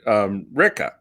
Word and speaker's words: Ricca: I mean, we pronounce it Ricca. Ricca. But it's supposed to be.